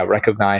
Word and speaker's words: Recogni: And uh yeah, I I pronounced it recognize that.